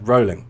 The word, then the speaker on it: Rowling: who wrote harry potter learn her name jk rowling rowley depending on the pronunciation yeah um what is it jk rowling that's what yeah rolling that's how you say it not rowling rolling um so yeah if